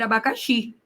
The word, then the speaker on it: abacaxi: Eu consigo falar abacaxe? Não. Se fosse abacate, OK. para abacaxi não, mas eu consigo fazer abacaxi. Olha só. Então, descobri aqui que o xi é a minha sílaba tônica.